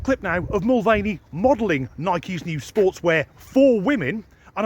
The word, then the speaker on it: Nike: are in the world you'll pronounce it Nike or Nike I say Nike Nike has also Enlisted